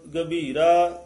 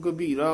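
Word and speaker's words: ਗਭੀਰਾ: नानक कुरबानी सो गहर गभीरा गौहर जीयो सो गहर गभीरा इसन गभीरा उच्चारण करना टिप्पी नहीं है गंभीरा नहीं कहना थे सो गहर गभीरा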